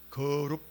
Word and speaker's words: 거룹: 그래서 이것을 발음된 대로 하면요, 그룹이라고 쓰면 안 되고 거룹 이렇게 해야 돼요. 거룹.